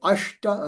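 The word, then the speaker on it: अष्ट: Eight is ashta. Again that sha with the with the back of the pallet sound. Ashta.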